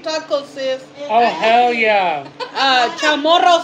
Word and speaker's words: Chamorro: Chamorro style, right? That's how you say it, chamorro style.